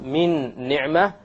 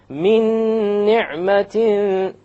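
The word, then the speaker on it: مِنْ نِعْمَةٍ: You have a noon followed by noon sakin followed by a noon. You drop this end sound. You take this meme and you associate it or you merge it with that noon and you add a ghunnah.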